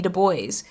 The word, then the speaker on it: Du Bois: Du Bois inside of here, talking. Thank you for pronouncing his name correctly.